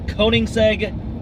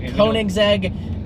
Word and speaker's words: Koenigsegg: The Koenigsegg Agera R.